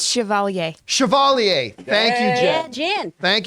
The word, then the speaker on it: Chevalier: WASP Quantum Mania uh Chevalier is that how you pronounce it properly is that the yes it's Chevalier Chevalier thank you Jen thank you Jen Chevalier Chevalier Chevalier uncultured swine the all-new 2023.